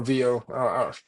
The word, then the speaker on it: Veo: gooogle Technologies slve um and or vo you're right with the pronunciation I think it is vo yeah that's you can